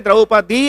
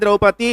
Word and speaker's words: ದ್ರೌಪದಿ: ದ್ರೌಪದಿ ಯಾಕೆ ಹೇಳಲಿಕ್ಕೆ ಬಂದೆ ಅಂದ್ರೆ ದ್ರೌಪದಿ ಅಂತ ಉಚ್ಚಾರಣೆ ಮಾಡಬೇಕೆ ಹೊರತಾಗಿ ದ್ರೌಪದಿ ಅಂತ ಉಚ್ಚಾರಣೆ ಮಾಡುವ ಹಾಗಿಲ್ಲ ಅದು ಅಶಾಸ್ತ್ರೀಯವಾದದ್ದು ಅದು ಹಾಗೆ ಪ್ರಯೋಗ ಇಲ್ಲ ಈ ಪಂಚಕನ್ಯ ಇದು ಪಂಚಕನ್ಯ